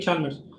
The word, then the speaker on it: Chalmers: Chalmers, ¿cómo se pronuncia? David Chalmers. Era David Chalmers.